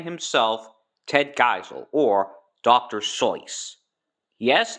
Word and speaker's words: Seuss: Soy. Yes, it's pronounced soy. The reason why it's pronounced Seuss is because the reason why people pronounce it as Seuss is because, well, it looks like Seuss.